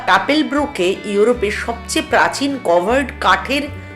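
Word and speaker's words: Kapellbrücke: এটা হচ্ছে Keppel Brooke, এইটা হচ্ছে যেটাকে কেপেল আমরা ব্রুক। ইংলিশে চ্যাপেল ব্রিজও বলে থাকি।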